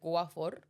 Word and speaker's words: Watford: My grandma lives in Watford, which is a suburb, but she pronounces it Guafor.